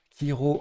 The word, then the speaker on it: chiro: Le coup suivant, c'est C et H ensemble, mais pas prononcé ch. Hiro en A11. Ah pardon, hop. Kiro en A11, donc sur le R de réjoui.